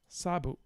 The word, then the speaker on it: sabuk: Although, did you notice that the K seemed to be pronounced here as a K? Sabuk itu. Sabuk itu. Or are my ears deceiving me? Sabuk itu. I hear a velar stop.